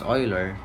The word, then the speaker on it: Euler: another mathematician from europe leonard euler pronounced as euler stated that a function